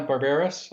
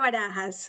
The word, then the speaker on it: Barajas: guest today is barbaris I think I got that right um almost how you your name no it's it's okay it's wahas but I know it's